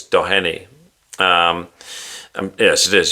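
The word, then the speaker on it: Doheny: It's It's spelled Downey, but I think it's Dohenny.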